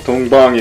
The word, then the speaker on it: 동방: Touhou is Dongbang in Korean, that's why you hear me say Dongbang a lot whenever I, you know, stream in Korean.